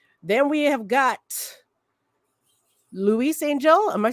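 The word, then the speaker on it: Ángel: Then we have got Luis Angel. Am I saying that right? Luis Angel? Angel. Acuna? You pronounce the G with an H sound. Angel.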